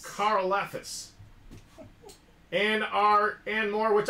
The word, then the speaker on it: Karlaftis: I keep saying that last name wrong. Hey. Karlaftis. Karlaftis.